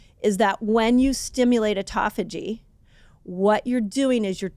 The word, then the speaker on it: autophagy: People either call it autophagy or Autophagy. autophagy. People say it different. You can tell me I said it wrong. I kind of landed on autophagy. I feel like Autophagy. autophagy is the best way to say it.